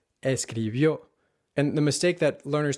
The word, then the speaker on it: escribió: And the mistake that learners tend to make is putting the emphasis on the second to last syllable instead of the last one, where the accent mark is, saying escribió or sucedió, or escribió